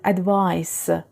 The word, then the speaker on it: advice: thinking about the future advice is a noun and pay attention it is pronounced with s sound at the end advice but advise is a